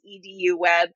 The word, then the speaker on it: eduWeb: There's a constant debate about that, and the finalized decision is that it is eduWeb. Just like if you were saying a university's domain, it would be .edu.